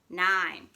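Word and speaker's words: nine: This one has a magic E at the end and a long I. N, I, n. You don't say the E sound. It's the word 9.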